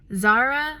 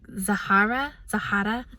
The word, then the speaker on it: Zahara: It's Zara. I think that's what most people are going to be saying, but it's Arabic, so it's pronounced like Zahara.